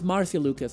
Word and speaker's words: Marcia Lucas: Like, were there any specific it's Marcia Lucas, apparently, says General Techno. Thank you. Did I remember her name wrong?